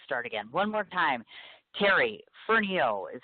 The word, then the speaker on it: Terry Fernihough: Terry Fernihough is how it's pronounced.